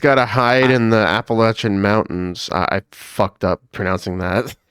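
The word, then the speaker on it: Appalachian: But you just got to hide in the Appalachin Mountains. I I up pronouncing that.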